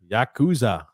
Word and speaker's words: Yakuza: comment here uh from uh Mario says it's pronounced Yakuza Yakuza I I again I can't read I